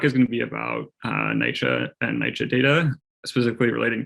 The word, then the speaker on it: NYCHA: every time i've ever heard it pronounced it's pronounced nycha so sorry i realized that i didn't explain